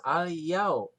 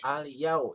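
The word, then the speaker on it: اليوم: Yau, al-yau. Yau, ada huruf waw mati, tapi sebelumnya baris patah, bukan doma. Kalau doma tadi apa? Mad tobi'i. Kalau patah, ini disebut apa? Madlin. Maka dibacanya al-yau ya, gitu.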